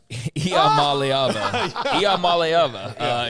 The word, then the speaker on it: Iamaleava: Malava Malava is is how you say it.